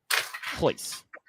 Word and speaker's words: Royce: Hoice is how it was uh pronounced.